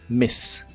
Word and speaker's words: miss: Se pronuncia con la I corta.